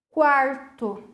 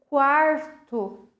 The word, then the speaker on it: quarto: Quarto. Que letra que veio depois do QU? A. Quando veio a letra a vogal A, depois do QU, eu pronunciei esse U. Quarto.